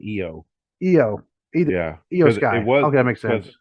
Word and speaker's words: Io: Okay, we need to have something else that rhymes with I there, with It's Bailey. actually they're saying EO.